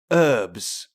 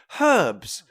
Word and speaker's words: herbs: Americans, and he goes, Americans say herbs, and British people say herbs, because there's a fucking H in it.